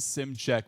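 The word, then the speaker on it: Szymczak: Another first team all name guy cuz that that last we pronounce it sim check but it's spelled completely different.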